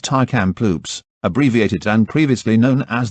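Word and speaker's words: Tk'emlúps: the school buildings still stand today and is located on tar kamploop stuart parr first nations tar kamploop stuart par pronounced thai camp loops abbreviated and previously known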